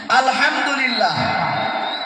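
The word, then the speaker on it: الحمد لله: আলহামদুলিল্লাহ, এখানে বড় হা আলহামদু হামদান, আলহামদু মাসদার মানে হলো প্রশংসা।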